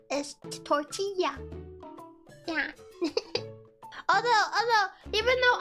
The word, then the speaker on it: tortilla: say it tortilla and if they have the two L's next to each other in Spanish words it makes a y sound as tortilla yeah although although even